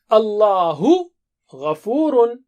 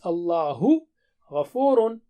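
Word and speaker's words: اللهُ غَفُورٌ: Allahu ghafurun. Allah is forgiving. Okay, and when you say that, you should say it like, show it like this. Allahu ghafurun.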